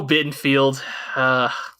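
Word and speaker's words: Bittenfeld: whistles before you know the o bin filled rhymes with Garfield yep yeah well yeah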